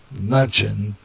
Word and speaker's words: Mnuchin: In a letter, Mnuchin, I'm going to pronounce it Mnchin, not exactly how to pronounce that, so I'm kind of going with Mnuchin, maybe the M silent.